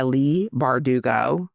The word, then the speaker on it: Leigh Bardugo: takes for the uh for ninth house by Lee bardugo did I say it right you nailed it